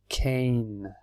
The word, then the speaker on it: cane: can and we have Kane again we put on the E and the a sound changes we don't say the e but the e changes this a-akane is something